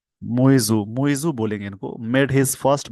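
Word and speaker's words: Muizzu: president Mohammad मजू मतलब कह सकते हैं मजू मजू बोलेंगे इनको made his first bottle visit to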